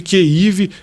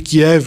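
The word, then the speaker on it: Kyiv: de kívia Capital ucraniana eu chamo de keiv que é a pronúncia que a imprensa começou a a adotar tá que é a pronúncia ucraniana por quê Porque é uma cidade que tá na mão dos ucranianos eles falaram agora chama a gente de keiv não de Kiev porque Kiev é a pronúncia russa mas estamos falando da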